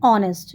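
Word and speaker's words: honest: यहां भी H silent होता है। तो इसको भी हम बोलते हैं ऑनेस्ट जो कि ओ से आएगा।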